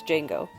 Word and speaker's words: Django: For a final cool fact, Nero made a brief cameo in Quentin Tarantino’s Django Unchained as more or less his most famous role. “The D is silent.”